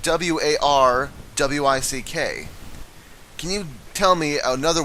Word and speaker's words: Warwick: in the English language that silences one of the same letter within that word you know wari you know it's it's spelled w a r w i c k can you tell me